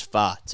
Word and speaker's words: Pfaadt: Yes, it is Pfaadt. Okay, that's how you say it.